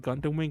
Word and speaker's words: Gundam W: one somewhat correctly like you just call it gundam wing but don't realize that it's just the w when you spell it so yeah i didn't